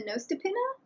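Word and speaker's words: nøstepinne: The other option, and what I do since I received one for Christmas, is to use a Nostipinna. I'm guessing on that pronunciation, by the way. It's Nostepinne.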